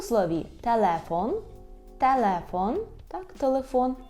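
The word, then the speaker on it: telefon: У слові «телефон», «телефон», так, «телефон», тільки знову ж таки зверніть увагу на наголос, «телефон», і «л» повинно бути м'яке, «телефон», так, кінчик язика до верхнього піднебіння.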